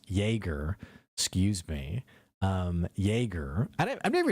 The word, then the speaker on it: Jaeger: Larissa, by the way, adds that Jaeger is pronounced Jaeger.